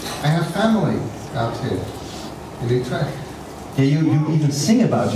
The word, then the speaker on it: Utrecht: That was mostly because Utrecht rhymes with vivisect.